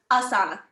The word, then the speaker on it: Asana: are growing, creating all of them, including Command, Asana, Google Sheets, cleaning up different things. And then we have a marketing team as well. Can I just ask you quickly, you've mentioned Dasana, is it Dasana? Asana.